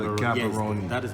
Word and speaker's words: Gaborone: I call it Yes, Gaborone. that is how it's pronounced.